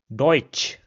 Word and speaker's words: deutsch: The next combination is t sa and this is pronounced similar to the English ch combination. We see this combination in English in the word cheese or chair. So in German an example will be deutsch which means German.